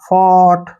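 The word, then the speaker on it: fought: यू जी एच टी इनको silent रखना है एफ होगा उच्चारण फा हो गया टी का ट फॉट ठीक है ना फॉट ऐसे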